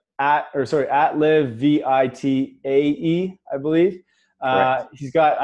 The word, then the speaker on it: Live Vitae: Is that how you pronounce it? Live Vitae, but yeah, that goes as well.